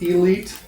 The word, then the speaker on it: E13E7: I'm taking that as Elite. Is that your handle there? I think Elite. Me? No, it's E13E7. Oh my God, you're the first one to know how to say my name.